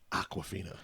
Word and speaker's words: Awkwafina: And it's spelled like the New York accent way. It's like Aquafina. Yeah, exactly. Aquafina. It's almost like she saw a water bottle, asked somebody how to pronounce it, and then said it in her own accent, and that's how it came to be.